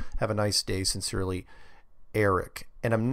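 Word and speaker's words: Arek: Eric, but it's spelled A-R-E-K.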